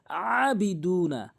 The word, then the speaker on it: عابدون: এখানে আইনের উচ্চারণ করতে হবে হলকের মাঝখান থেকে আবিদুনা, আবিদুনা। আইন খারাপ হচ্ছে পর আবিদুনা।